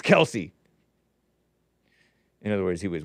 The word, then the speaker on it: Kelce: Taylor Swift, Travis Kelce, yes, it is Kelce. The dad just got frustrated with everybody calling it Kelce, so he said, okay, fine, it's Kelce.